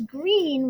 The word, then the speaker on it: Greene: is goon bird green that's green with a silent e at the end and I just moved